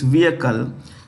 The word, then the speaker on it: vehicle: The H is silent, so it's vehicle, named Kim In-sing 50.